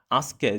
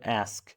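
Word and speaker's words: ask: আস্ককে, যে আস্ক আমরা যে বলি, ওটাকে বলে অ্যাস্ক, অ্যাস্ক। ঠিক আছে?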